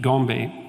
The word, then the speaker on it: Gombe: But then, of course, Goodall showed in the 1970s that the chimps at Gombe, I think I'm pronouncing that correctly, Yep.